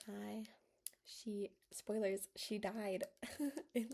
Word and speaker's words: Ai: I think her name is pronounced Ai.